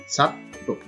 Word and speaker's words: ছাত্র: তারপরে আছে ছাত্র, সঠিক উচ্চারণ হচ্ছে ছাত্র।